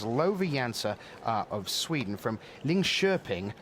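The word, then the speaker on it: Linköping: uh, of Sweden from Ling Sherping. Looks like Lin Coping, but that's not how they pronounce it.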